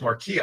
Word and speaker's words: Marque: And then when John told me your name, I'm like, Marquis, or is it Marque? He goes, oh, it's Marquis.